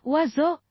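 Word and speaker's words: oiseaux: IO dibaca O, Oiseux dibaca wazo gila.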